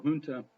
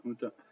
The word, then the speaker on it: junta: For example, a junta, and yes, you don't pronounce the J with the J sound. The junta is a group of military leaders who rule a country after taking control by force.